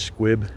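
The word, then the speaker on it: Sqwib: I believe his channel is pronounced Squib, S-Q-W-I-B.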